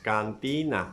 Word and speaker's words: cantina: the the word cantina so it has three syllables cantina where is the stress in the second syllable so you mark this